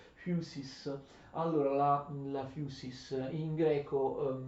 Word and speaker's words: physis: Noi convenzionalmente, ma arbitrariamente, pronunciamo la lettera P, la lettera Φ, che è un P aspirato, la pronunciamo come F, ma in realtà è scorretto. Fusis, allora la fusis in greco natura si dice fusis.